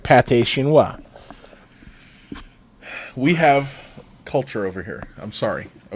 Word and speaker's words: pâté chinois: What the fuck is pâté chinois?